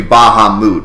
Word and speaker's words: Bahamut: over the Internet that is supposed to be Baha moot and anyone that says Bahamut is a jerk